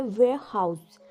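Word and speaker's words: warehouse: हमारा दूसरा वर्ड है वेयर हाउस। वेयर हाउस। याद रहे यहां पर आर साइलेंट है।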